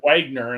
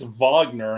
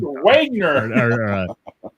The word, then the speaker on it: Wagner: I called it Wagner, and he's like, it's Wagner, and I'm like, yeah, Wagner. It must have been the Flight of the Valkyries, and you got it wrong. yeah, because I'm like, on the fucking album, it's spelled W-A-G. It's Wagner. Yeah. Damn Germans and their V's for W.